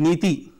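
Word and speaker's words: NITI: Modi after he's having dissolved the Planning Commission pronounced methi meaning policy in Sanskrit the acronym stands for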